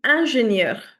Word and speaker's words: ingénieure: the pronunciation will be ingénieure. So, in this one, ingénieur, specifically, the spelling changes but the pronunciation remains more or less the same.